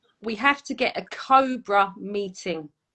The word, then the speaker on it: COBR: So although we pronounce it Cobra, it's actually spelled COBR.